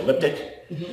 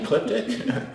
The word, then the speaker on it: Ecliptic: through um but that people might have a problem with spelling it or pronouncing it like elliptic but i think once they actually can see that to see that it's actually ecliptic and also and for